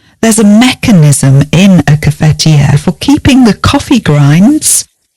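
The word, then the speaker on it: cafetière: And you might use a coffee machine for your coffee, but we use a cafetiere.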